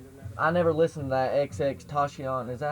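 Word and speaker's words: XXXTentacion: I was gonna ask y'all, like, y'all do music, and I never listened to that XX Tashion.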